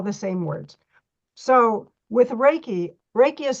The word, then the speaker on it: Reiki: energy they're all the same words so with raiki Reiki is spelled REI Ki REI means Universal that means